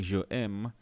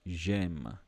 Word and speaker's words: j'aime: So instead of saying je aime, they basically want you to say j'aime, j'aime.